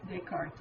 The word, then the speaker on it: Descartes: But when you take someone's name that's French and use it in English, you tend to pronounce everything. And so we say Cartesian, even though he would have said something like Descartes is his name.